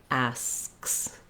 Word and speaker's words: asks: It's when they have to add the additional s, asks, that is challenging. So you can actually just start on the s and do the SKS sounds.